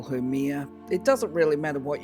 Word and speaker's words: Mihr: So the first thing to know about Mihr is actually her name is pronounced Mihr, but technically speaking as in mermaid. However, for some reason I still call her Mihr.